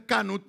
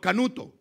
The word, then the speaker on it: Canut: Y obviamente, como no tenían una buena pronunciación los chilenos, no le decían Canut sino Canuto.